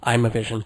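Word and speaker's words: Imavision: from a company called Imovision. IM A V I S I O N or maybe they pronounce it Imovision.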